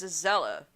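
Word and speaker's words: azalea: say azelle no as aella the E silent before the a people want to know more clarification let me spell it a z a l EA as a zala the E is silent so you don't hear the E promotes happiness guity and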